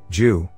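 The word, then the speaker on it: 九: good fortune or good luck the number nine jew represents eternity and longevity in chinese culture and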